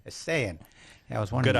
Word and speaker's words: Esayian: Esayian. Esayian.